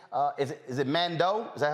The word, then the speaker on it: Mandeaux: to man man uh is it is it Mando is that how it's pronounced correct Commando shoes n-a-n-d-e-a-u-x s-h-o-e-s Facebook Amanda